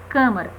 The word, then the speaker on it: câmara: Vejamos. Câmara. Vejam que o som, a pronúncia já é fechada, né? Câmara.